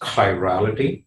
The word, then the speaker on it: chirality: chirality okay so that's how this word is pronounced chirality and so what we're going to talk about